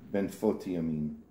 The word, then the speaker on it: Benfotiamine: benine pronounce it benfotiamine this is thamin fat soluble form your normal